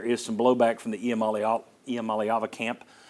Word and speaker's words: Iamaleava: There is some blowback from the Iamaeleava camp. And I'm messing that name up. It should be pronounced Iamaeleava.